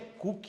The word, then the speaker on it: Coke: Aí tem lá a metáfora toda lá, o Edward Coke, um dos grandes autores, Coke não é de Coca-Cola, né? Na verdade a pronúncia eu acho que é Cook, na verdade, eu acho que pessoal, já ouvi gente falando, mas não importa.